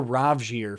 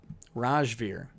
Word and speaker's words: Rajvir: uh later roger rajvir i thought you were rajya for the longest time i apologize and by apologize i mean i don't actually care rajveer i always read your name wrong rude rude of you